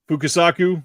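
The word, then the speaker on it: Fukasaku: to linger on it let me guess damiani fukusaku rivet Suzuki a variety of countries and genres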